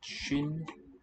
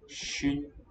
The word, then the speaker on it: 쉰: And SWIN pronounced 쉰 means 50. So the S is common in a sense. It comes out differently. S here versus sh. 쉰 like this.